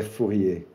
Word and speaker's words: Fourier: que é a universidade Joseph fier ou José fourrier falando na pronúncia francesa que é por onde